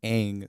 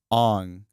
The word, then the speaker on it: Aang: know for three years you're just used to saying aang saka iro uh there was another one too that they also butchered they're not butchered but they kind of changed um but then you hear like ong soka ero what is that what